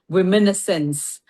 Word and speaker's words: womenessence: And I have named this transition period womenessence Mm. to rhyme with adolescence, Okay.